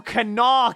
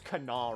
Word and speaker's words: Kanawha: Welcome to Kanawha County.